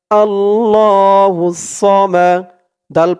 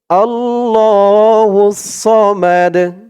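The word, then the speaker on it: ٱللَّهُ ٱلصَّمَدُ: হুস আল্লাহুস সদ জবর সাল্ুস মিম জবর মা আল্লাহুস সামা দাল পেশ দু করার কারণে দালের উপরে পেশটা সাকিন হয়ে যাবে উচ্চারণ হবে বানান করার সময় দু বলতে হবে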